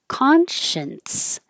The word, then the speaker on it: conscience: it down Consciousness consciousness this one conscience I made this in red to remind you that that's mainly the difference between number nine conscious and number 11 conscience because you're going to go from the end to an S and a little T will just accidentally happen but if you need